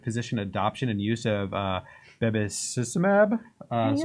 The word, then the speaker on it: bevacizumab: So it's the Association of Physician Peer Influence with Subsequent Physician Adoption and Use of Bevacizumab. That's right. Bevacizumab.